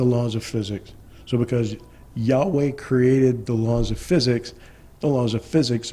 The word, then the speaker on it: Yahweh: elephant you would say yud V which is pronounced in in even modern uh hebraic as Yahweh and again this means our existence is a